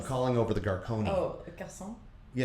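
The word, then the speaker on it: garçon: What's Garone? I'm calling over the Garonei. Oh, garson.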